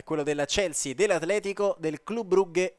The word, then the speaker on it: Club Brugge: Occhio, perché si dice Club Brugge, io lo ricordo sempre perché verrò bullizzato nei commenti, ma ho commentato il belga e ho conoscenze lì, vi posso assicurare che la pronuncia corretta è questa.